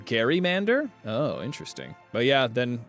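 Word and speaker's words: gerrymander: Um, and the word Jerrymander is named after a man with the last name Jerry with the hard G sound. Uh, yet everyone pronounces Oh, Gary Mander.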